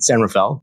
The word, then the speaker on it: San Rafael: But how would you say that? San Rafael? Yeah, that would be the assumed pronunciation. Yeah. But most of the locals call it San Rafael.